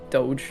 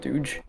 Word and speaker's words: Dogecoin: Dogecoin oh oh yeah I guess pronounce is pronounce Doge not Doge Doge anyways I've not